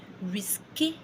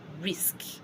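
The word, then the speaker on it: risque: I'll spell risk right now. R-I-S-Q-U-E. Risk. That is the spelling of risk in French. It also means the same thing. It means risk. I know the risk in French, English ends with a K. So now looking at that word, averagely as an English speaker, I would say risqué or risqué.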